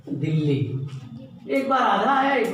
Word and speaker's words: दिल्ली: द्वित्व व्यंजन वो व्यंजन होता है जिसका उच्चारण 2 बार किया जाता है, एक बार आधा एक बार पूरा। जैसे दिल्ली शब्द लिखते हैं तो दिल्ली में दिल्ली लिखते समय वो दी आधा ला ली, दिल्ली एक बार आधा